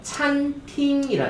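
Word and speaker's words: 餐厅: 이게 그냥 이거는 억지인데 약간 외우기 쉽게 하려면은 식당에 들어갔는데 그릇이 있어서 한번 찼어요. 그러니까 갑자기 팅 하는 소리가 났다라고 생각하시면서 뭐 이건 너무 억지긴 하지만 찬팅 발음 시작.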